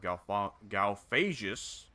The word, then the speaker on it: Galphagus: And we will continue to just whittle down the city of Galphagus bit by bit. Got to make sure that's a soft G and not a hard G, or else you could say something badly.